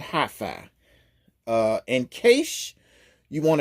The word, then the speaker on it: HiPhi: SUV it is all electric yes I said HiFi uh in case you want to know how it's spelled this is how you spell it okay